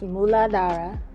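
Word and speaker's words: Muladhara: ahead and keep watching the root chakra is pronounced muladara in sanskrit mula meaning root and adaras meaning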